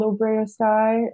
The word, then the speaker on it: OBROA-SKAI: So that's kind of how it sticks, even though when you see it written down, it doesn't look like that pronunciation at all.